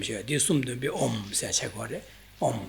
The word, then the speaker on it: Om: This is comprised of, maybe you can say 3 sounds, that of A, U, and Ma. So these 3 together make Om.